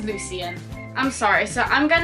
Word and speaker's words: Lucien: whole time yeah well that happened with Lucian for me it was Lucien I'm sorry so I'm